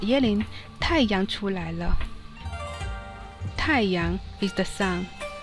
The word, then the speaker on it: 了: Here, L reads L, L. E reads E, E. So L, E, L, L.